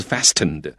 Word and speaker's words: fasten: 是灭绝啊，所以这一题我们要选的是 hastened。那刚刚注意到这个Angela 老师念的时候，他是念 hastened，他不是念 hastened 啊，所以那个 t 是不发音的。同样的 A 这个选项不是 fastened 啊，是 fasten 啊，那个 t 也是不发音的，所以 A fasten 也是